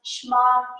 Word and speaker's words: Shema: So I pronounced Shema Israel.